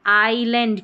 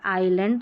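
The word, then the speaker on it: island: आ रहा है तो आइलैंड क्योंकि एस साइलेंट है आइलैंड तो आई का ही उच्चारण है आई फिर है ओ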